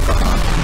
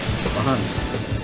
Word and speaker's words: Bahamut: I pronounce it Bahamut. I know you guys are fucking angry and aggravated about that. I pronounce it Bahamut. Bahamut.